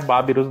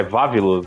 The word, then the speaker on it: Vavilus: O nome certo não é Babirus, não. É porque Babirus é a pronúncia japonesa. É Vavilus, né? É igual o Gavan, né?